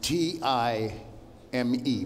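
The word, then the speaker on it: TI:ME: up this year with T-I-M-E, pronounced time, thank you.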